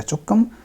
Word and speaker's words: 조금: तो कैसे बोलेंगे, 한국말을 조금 할 수 있어요, 조금, 조금 ऐसे है ये, लेकिन पढ़ने में बोलने में चक से ज़्यादा करीब प्रोनाउंसिएशन है इसका, चोकम, चोम भी बोल सकते हैं, चोम 할 수